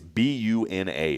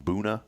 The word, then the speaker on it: Buna: But that town, Boona. Boona. Am I pronouncing that right? Boona. I think How so. else would you say it? Buna, but it can't be Buna. It's got to be Boona. So, and I've tried to figure it out.